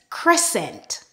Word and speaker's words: crescent: When we have a combination of S and C together, the C is silent and we just pronounce the S sound.